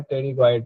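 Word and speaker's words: pterygoid: टेरीगॉइड में spelling देखिए पी से शुरू हो रहा है लेकिन पढ़ा जाता है टेरीगॉइड पेशी।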